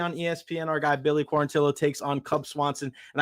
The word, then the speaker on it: Quarantillo: December 14th UFC on ESPN our guy Billy quarantillo takes on Cub Swanson and I think our